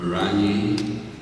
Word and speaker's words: Muranyi: Joe Muranyi, or Muranyi, as I should say, correct pronunciation.